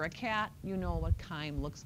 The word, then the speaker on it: chyme: Yep, chyme, not chime. That's what bells do. It's chyme, hard C.